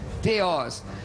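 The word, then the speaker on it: θεός: é theos, é theos, a pronúncia, de acordo com a pronúncia erasmiana, Cambridge, theos.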